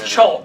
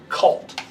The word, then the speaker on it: Chult: but the oh CH it is chult not cult yeah yeah like chaos